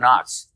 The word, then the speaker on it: Knox: that I did the interesting about Fort Knox is that the K is silent did you know that